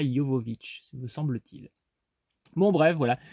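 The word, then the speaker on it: Jovovich: il y a Mila djovovic donc je dis Mila djovovic comme beaucoup de gens mais je crois qu'on prononce Mila Jovovic me semble-t-il bon bref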